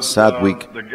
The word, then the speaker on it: Sadwick: El señor Sadwick, se pronuncia Sadwick, era el guía, y él, y yo estaba con un ministro, Eric Bisco.